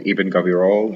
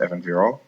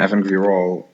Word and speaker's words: Ibn Gabirol: supposed to be called Ibn Gabirol. However, nobody except prescriptivists call it this way. It's pronounced Evan Virol, not Ibn but Evan. And so on Evan Virol, so this is a